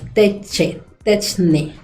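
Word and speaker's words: τέχνη: Y entonces señala el diccionario, dice tecnología viene de la palabra griego texun, que se pronuncia como techne.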